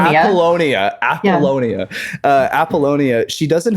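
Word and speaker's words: Apollonia: um with uh Apoll how do you say I'm sorry I keep getting it every single time Appalonia Appalonia uh Appalonia she doesn't have a lot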